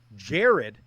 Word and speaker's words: Gerad: head coach of Troy Jared by the way is the correct pronunciation we've got coach Jared Parker coming out of